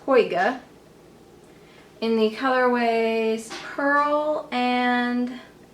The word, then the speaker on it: Hoiga: I don't know how to pronounce it. Well, I guess it Hoiga.